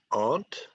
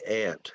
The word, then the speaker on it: aunt: Some people in the United States pronounce this word aunt. Me, I say ant. It sounds just like the insect.